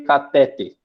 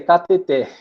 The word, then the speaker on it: cateter: Então, seria catéter, né, sim? Ou catéter, né, se você pronunciar grave ou agudo, mas nenhuma das formas estaria correta.